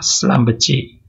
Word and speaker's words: Schlumberger: Ini cara bacanya juga bermacam-macam ya. Ada Schlumberger, ada Schlumberger, ada Schlumberger. Oke. Tapi dari bahasa Perancisnya dibaca Schlumberger.